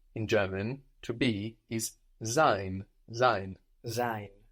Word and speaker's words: sein: To be, in German, to be is sein, sein. Sein. How do you think that's spelled? S-E-I-N. Good, an S there, no? Giving us a Z sound.